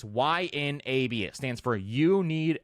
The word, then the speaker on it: YNAB: I use Y, and people always say, how do you pronounce that? It's YNAB.